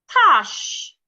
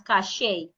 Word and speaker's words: cache: Cash. My dad would normally pronounce this word as cachet. That is wrong. He say cash.